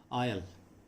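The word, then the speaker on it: I'll: आयल, आयल, आई विल को short में आयल लिखा जाता है, इसका उच्चारण सुन लेंगे, आयल, आयल, आयल।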